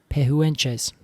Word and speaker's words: Pehuenche: Pehuenches. Pehuenches. Pehuenche is what I would say. I think that's probably a lot better than I said it.